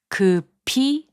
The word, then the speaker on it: 급히: 급히, which means hurriedly, is pronounced as 급히.